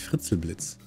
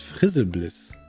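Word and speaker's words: Frizelblitz: Was ich übrigens immer falsch ausgesprochen habe. Das heißt gar nicht Fritzelblitz. Das heißt Frizzelblitz. Da ist kein T.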